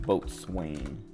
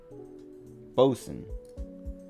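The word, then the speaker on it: boatswain: do you say that I know it's not like pronounced boat Swain Boson that's how it is um what was I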